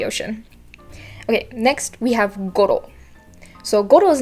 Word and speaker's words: Goro: that kind of stuff just uh just keep in mind of that rolling r and the intonation not being in row but more okay um i didn't